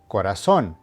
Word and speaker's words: corazón: Corazón, which means heart, is pronounced corazón.